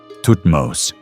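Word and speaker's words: Thutmose: Tutmos.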